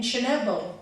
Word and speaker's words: Chernobyl: I have received calls from yoga teachers throughout this country who know of my exposure to radiation and depleted uranium in Chernobyl.